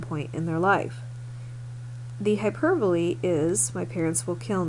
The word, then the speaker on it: hyperbole: It is pronounced hyperbole, not hyperbole.